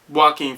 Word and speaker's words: Joaquin: But to get into the movie, like I said, Joaquin Phoenix, it sounds like I'm saying Walking Phoenix, but I'm not.